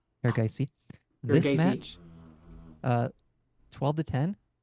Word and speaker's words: Erigaisi: Erigaisi? Erigaisi.